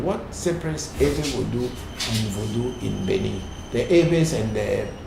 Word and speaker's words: voodoo: using the word voodoo, which in my area we never call voodoo because we don't use the nasal sound to pronounce voodoo. Even in some parts they call it vedu, not even voodoo, it's vedu.